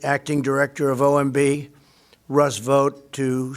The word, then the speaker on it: Vought: You also have Russ Vought, or Vote, I think is how it's pronounced.